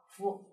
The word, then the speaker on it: 夫: 个一声，但是只是我们在组词在读到的时候呢，它是读成了轻声啊，夫。